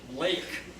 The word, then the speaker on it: lake: would be better pronunciation lake it's just like gate it's a hard word to pronounce for taiwanese germ and raffle just